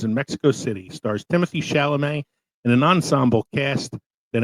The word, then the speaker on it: Chalamet: Had to get that off my I think his last name is pronounced Chalamet, though. Chalamet. He actually was talking on Graham Norton's show once about his name. Like everybody calls him Timothy, but he is of French descent.